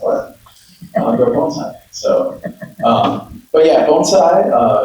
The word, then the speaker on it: bonsai: Um, at the at the lowest sense, bonesai is pronounced bone sai, not bonsai.